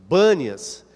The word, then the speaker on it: Banias: lugar de panas mas os judeus têm dificuldade com a pronúncia do P para chamar de panas e ainda hoje o lugar é chamado de banias com b de bola então em cesareia de